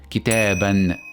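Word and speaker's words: كتاباً: And lastly, if I add tanween with fatha at the end of this word, then it will be pronounced as kitaban, kitaban.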